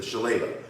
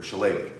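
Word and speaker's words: Shillelagh: fighting Irish stick fighting the Shala or Shala depending on how you want to pronounce it and traditionally You' be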